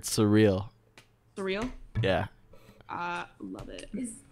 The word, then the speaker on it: Suriel: It's like the word surreal.